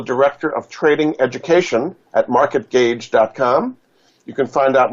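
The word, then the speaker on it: MarketGauge: and so you can find out more at market gage pronounced was spelled GA u GE dot-com her other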